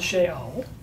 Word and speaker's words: Sheol: It's called Sheol.